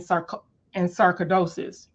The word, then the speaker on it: sarcoidosis: natural medicine because of dealing with arthritis and sarcoidosis.